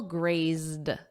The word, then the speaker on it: grazed: Let's look at this verb graze and then in the past simple grazed ZZ. So notice that ZZ and then just a soft D for the Ed grazed grazed his ear.